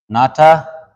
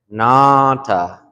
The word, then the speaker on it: nanta: And so, you might hear some people say it like nata, nata, but like when we spell it like this, it's like this is kind of pronounced like a nasal. So you want to say nanta, nanta, nanta.